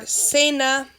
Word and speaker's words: cena: Or cena, it's making the S sound.